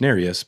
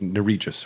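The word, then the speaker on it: Nerius: finger narius now I only remember that it's pronounced narus because I heard yurus say it the other day otherwise I would have said nerious or narus but that's egregious yeah that's narus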